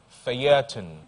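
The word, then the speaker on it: Feuilleton: The word is spelled F-E-U-I-L-L-E-T-O-N, Phaeton.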